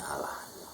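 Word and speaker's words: אַלָּה: Jadi di sini ada kayak penekanan double L, maka dia nyebutnya Allah. Nah di sini ada A, lamet, dages forte, dan H, tohe. Jadi bacanya L-nya double Allah.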